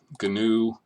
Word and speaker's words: GNU: And yes, I am saying GNU. GNU and GNU Octave is an acronym, and it's pronounced GNU, although the African animal is pronounced new.